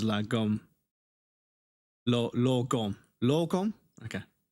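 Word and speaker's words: lagom: La rhymes with spa, or law, or law. Gom rhymes with bomb. Okay, gom, loom, or loom, or lot, bomb, or lum. Often spoken as la gom.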